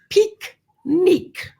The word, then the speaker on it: pique-nique: Now, the word picnic comes from the French pique-nique. Picnic, that's how they say it.